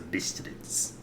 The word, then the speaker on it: Bistritz: So it's a German name, apparently. Bistritz. Bistritz. Okay, so Bistritz.